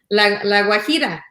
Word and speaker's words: La Guajira: You can hear us out all the way to La Guajira.